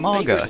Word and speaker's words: manga: also I've been reading manga hey snake you know it's pronounced manga right not manga I can't believe anyone